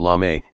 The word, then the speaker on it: Lame: Now Lame, pronounced Lame, is the most popular man on TikTok, with 117 million followers.